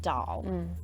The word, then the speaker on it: Dol: on YouTube said that in the audio book the dog's name is pronounced doll yes I wouldn't know